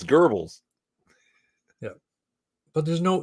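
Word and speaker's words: Goebbels: it's bad enough that most people just pronounce it Gobles or Gobles GBL it's Gerbes yeah but there's no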